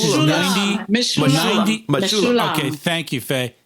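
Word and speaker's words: Mechoulam: While we're talking about research, today is Raphael McCullum. Am I pronouncing that? Remember? It's his 90. Mishulam.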